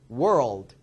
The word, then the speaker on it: world: 번이나요 자 하나 더 얘도 월드가 아니죠 한 번이 아니죠 세 번이 나야 돼요 우 드 world 하면 세 번이에요 또 한번은 리을 소리는